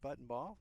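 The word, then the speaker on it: Buntenbach: Kennedy Buttonball, spelled B-U-N-T-E-N-B-A-C-H, pronounced Buttonball.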